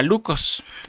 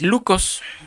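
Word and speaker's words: λύκος: rapaces habla una palabra, la palabra original es una palabra griega que se pronuncia lucos.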